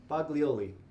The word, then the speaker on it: Boglioli: you say your last name again boglioli boglioli uh boglioli uh is from new mexico